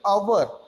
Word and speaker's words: hour: So the spelling beginning with the H, but the H remained the silent here. So our pronunciation is like hour.